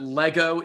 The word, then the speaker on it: Lego: It's It Lego. is true. Lego. Singular Lego and plural. It's always Lego.